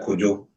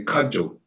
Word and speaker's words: Kojo: You have in Ghana, you have people's name like Kojo. And then those people in Europe, or Europeans, or people who can't pronounce the name, they say Kajo. It's a wrong tone.